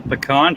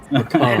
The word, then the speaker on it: pecan: Pecan. It's not pecan, it's pecan.